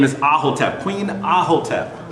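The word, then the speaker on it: Aahotep: Her name is Ahotep, Queen Ahotep. It's spelled A-A-H-O-T-E-P.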